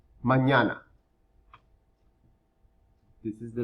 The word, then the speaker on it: mañana: Mañana. Na. Remember we talked about the letter ñ, that little N with a little squiggly on top? That sounds ña. Mañana.